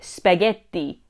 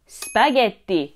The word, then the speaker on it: spaghetti: it's mozzarella not mozzarella vowels aren't silent in the word spaghetti spaghetti not spaghett and please don't